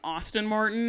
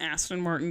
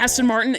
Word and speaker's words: Aston Martin: It's an Aston Martin. There's no U in the word Aston. Also, how do you not know how to pronounce a vehicle? Aston Martin.